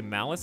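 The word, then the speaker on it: malus: influx but when uh people say malice is m-a-l-u-s which thanks to english being stupid is pronounced the exact same way as malice m-a-l-i-c-e even though they are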